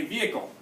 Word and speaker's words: vehicle: the other things like when you say the word vehicle by itself you don't say the H the H is silent but for this word